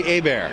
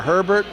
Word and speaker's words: Hebert: It's actually Hebert. Hebert. It's a Louisiana French thing. Ooh. That's right. See, it's spelled Hebert, but people think it's Hebert or Herbert or that new one. That's it. I'm gonna have to remember that. That's right. But Hebert, like think a bear is going to attack me.